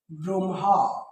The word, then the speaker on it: ব্রহ্ম: আসবা ওকে যেমন দেখো যদি আমি বলি ব্রহ্ম দেখো তো এই ধ্বনিটা আছে না তাহলে এই ধ্বনিটা কি আগে ম আসবে পরে হ আসবে এটার উচ্চারণ কি হবে ব্রহ্ম ওকে তাহলে দেখো তো আগে ম আসলো পরে হ আসলো তাই দেখো তোমরা যখন